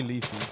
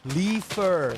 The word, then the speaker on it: Leafier: Is that how you say it now? Because I just say Leafy. I feel like that's disrespectful to you. How do you do? Leafer.